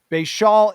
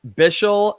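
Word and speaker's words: Bhayshul: breaking this down together, Bayshal, is it Bayshal? How you pronounce it? I've heard Bishal and I've also heard Bayshal. So I just say Bishal Tootin.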